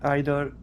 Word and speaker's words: either: yeah either either yeah I I say either which one do you say either you say either I I use either yes oh no well guys I think this testimony is not going to work we're using either and either we're like not in